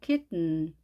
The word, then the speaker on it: kitten: T 발음을 하지 않고 코로 내보내서 발음합니다. kitten.